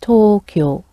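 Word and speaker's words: 東京: In Japanese, it's pronounced Tokyo.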